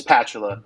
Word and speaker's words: Patula: you say it it it's patula so just the bachula without the S is how we describe that one yeah I was actually